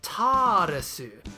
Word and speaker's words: Taaresu: noticed that I flipped Taaresu to Retasu, but that the character's name is actually Taaresu, with an extended first vowel sound.